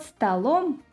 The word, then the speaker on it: столом: For example, the word «стол» – «table» – the stress falls on «о», but in the instrumental case «под столом» – «under the table» – the stress shifts to the second syllable.